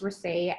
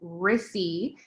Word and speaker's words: Rissy: My name is definitely pronounced Rissy and not the very deceitful Rissy as it's spelled.